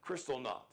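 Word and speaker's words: Kristallnacht: Don't ask me to spell it. Crystal knot.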